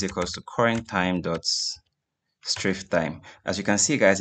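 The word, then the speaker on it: strftime: So the first of them is STROF time, strift time. So that's how I pronounce it, but actually stands for string format time.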